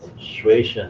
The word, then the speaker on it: 学生: 学生 is how you say student.